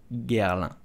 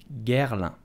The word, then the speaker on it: Guerlain: So how do you pronounce it? You will simply say Guerlain. Guerlain. Guerlain.